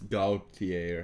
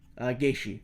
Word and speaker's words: Gaethje: When Khabib beats Gaultier, or how do you say his name? Gaethje.